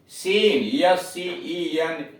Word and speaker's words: scene: सी silent है, SCENT Saint इत्र, SCIENC साइंस विज्ञान, सीन SCENE सीन दृश्य। इन सभी में सी साइलेंट है।